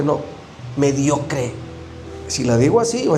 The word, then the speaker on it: mediocre: Es decir, ¿estoy siendo mediocre? Siempre hemos dicho mucho, ¿verdad? Que esta palabra se escucha fuerte, pero no es así como se pronuncia de tan fuerte, no. Mediocre.